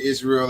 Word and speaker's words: Ysrael: And he pronounced that, you spell that Israel with a Y. So it's YSRAEL of C.